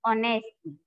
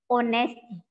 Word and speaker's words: honesty: I admired honesty. This is honesty, not honest. Okay. The correct pronunciation of this word is honesty.